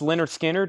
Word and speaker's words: Lynyrd Skynyrd: Lynyrd Skynyrd, pronounced Lynyrd Skynyrd, is $36.99.